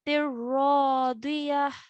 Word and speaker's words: راضية: Over here, we have a ya mud. Yeah, straight after the ayn, we have a ya sakin. And the letter before carries a kasra, so it's a ya mud. So we are stretching for 2 counts over here. E, like that.